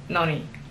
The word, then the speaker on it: noni: Okay, the second one is where the emphasis is on the second syllable, which definitely is more pleasant to me.